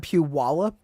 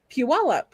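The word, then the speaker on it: Puyallup: You said Puallup. Puualup. That's how you say it. There's no W in there. It's a Puallup tribe.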